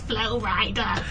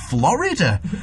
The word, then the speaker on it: Flo Rida: like i think it's florida yeah how does she know she knows more about popular music than i do yeah flo rida she didn't even pronounce it florida either jay jay-z not